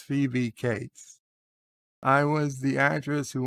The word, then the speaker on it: Phoebe Cates: bob my name is phoebe cates and it's pronounced phoebe cates i was the actress who went topless in